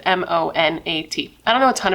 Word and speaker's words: Monat: So she wanted to start working harder at this MLM called Monat, I believe is how you pronounce it, M-O-N-A-T.